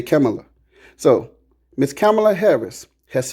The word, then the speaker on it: Kamala: I'm saying her name the same way Indian folks say her name. They say Kamala.